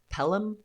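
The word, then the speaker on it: Pelham: Uh and then yeah, protected infrastructure on is it called pronounced Pelum?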